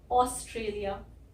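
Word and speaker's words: Australia: सबसे पहले तो ये ए यू जो है इसको हम ओ बोल रहे हैं, ओ। हिंदी में हमारे पास ओ होता ही है, तो हमें ये बोलने की आदत है, ओ। उसके बाद इस एस की सॉफ्ट साउंड है, हल्की साउंड है, ऑस्ट्रेलिया, ऑस्ट्रेलिया, तो ये आधा सा आ जाता है। फिर आर की भी हल्की साउंड है, और ये टी आर को हम ट्र बोलते हैं, ऑस्ट्रेलिया, ट्रेलिया।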